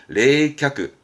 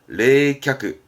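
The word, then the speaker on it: 冷却: 쓰는 부분 아니시고요 냉각입니다 각 냉각 상태 각자입니다 발음은 레이캬크 레이캬크 냉각의 레이캬크 이것도 많이 보죠 냉정한 발음은 레세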